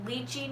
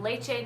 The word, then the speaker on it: lychee: some people call them lychee nuts some people call them lachey nuts um but every youtuber